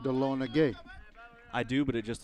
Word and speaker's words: Dahlonega: It's actually pronounced Dahlonega.